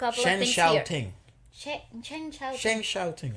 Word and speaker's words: Shen Xiaoting: SHEN XIAOTIng, I think that's how you say her name. Because the X's in Chinese are Xia. Sha. Yeah. Sha.